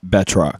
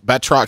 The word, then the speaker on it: Batroc: tracks how do you say his name bat batroc bat batroc he's like a french guy dude yeah and